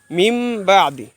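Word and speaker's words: من بعد: অথচ আমরা উচ্চারণ করার সময় কি বলি? মিম বা আদি। এর কারণ হচ্ছে, আমরা একটু আগে সংজ্ঞা পড়েছিলাম, নুন সাকিনের পরে যদি বা আসে তখন ওই নুনকে বদল করে মিম পড়তে হয়।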